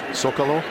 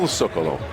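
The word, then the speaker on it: Zócalo: Zocalo? Is that with the S or is it? It's spelled with a C, but we say it with an S.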